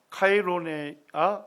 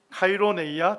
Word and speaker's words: 카이로네이아: 테베하고 마케도니아에서 하고 전투를 하게 되는데, 이 전투가 카이로네아 전투입니다. 발음이 좀 힘드네요. 카이로네이아 전투. 이제 좀 됩니다.